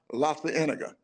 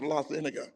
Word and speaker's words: La Cienega: Wilshire is first, and then we got La Cienega. uh-huh. But when I first got there, I mispronounced La Cienega Uh-oh.